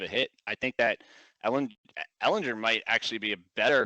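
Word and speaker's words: Ehlinger: I've heard it pronounced both ways all day today. I say Ellinger. I say Ellinger too. It seems like it rolls off the tongue a little more.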